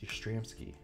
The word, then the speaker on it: Yastrzemski: I think in that same video, I pulled a Carl Yastrzemski. Can't always pronounce his name. Some days are better than others. And, I believe it's pronounced Yastrzemski.